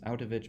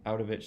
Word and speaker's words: Auttawich: here his name is ovich although it's not pronounced out ofish so how do you